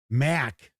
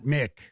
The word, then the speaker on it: Mc: Um anyway, or well, you got to keep in mind the MC depending is pronounced differently. So, if you're Irish, the MC is uh pronounced Mac, not Mick. It's Mac.